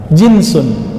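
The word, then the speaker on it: جنس: jenis dari bahasa Arab jinsun jins pakai jins engak Pak itu beda lagi ya jin itu bacanya Ya kalau ini jinsun Ja Jim Nun Sin jenis bahasa Indonesia jenus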